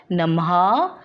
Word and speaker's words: नमः: इसको हम विसर्ग भी कहते हैं और इसका उच्चारण वर्ण के बाद ह की ध्वनि के समान होता है, जैसे नमः, स्वतः, शनैः आदि। आवाज़ आ रही है ना बच्चों ह के पीछे?